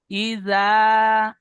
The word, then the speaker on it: إذا: ই যা হবে না, এখানে যা পড়তে গেলে যা হয়ে যাচ্ছে, এখানে জাল আছে, জাল হালকা ভাবে উচ্চারণ করবেন। ইজা, ইজা, إذا إذا وقب ওয়াকব, وقب কাব হবে না, কব, দুই নোক্তাওয়ালা কব।